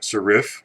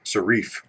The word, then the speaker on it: serif: it is not pronounced serife and it is not pronounced serif' it is pronounced serif you learn a lot